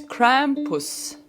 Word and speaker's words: Krampus: discussing Krampus I always thought as Krampus its Krampus that's how you say it if you haven't heard of Krampus you'll know tonight who the hell Krampus is grandpa's who's grandpa anyway we're gonna be